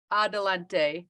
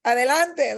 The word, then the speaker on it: Adelante: forward to you enjoying the talk you started Adelante movement if I'm saying it correctly it's correct